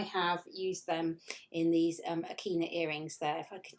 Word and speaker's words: Akina: It's spelled A-K-I-N-A.